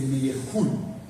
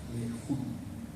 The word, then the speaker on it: Meyerhold: Expresionismo y ahora nos vamos con Papi Meyer, que en realidad es Meyerhold, así se pronuncia, Meyerhold.